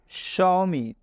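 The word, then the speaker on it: Xiaomi: शौमी, शौमी में एक्स का उच्चारण स से हो रहा है।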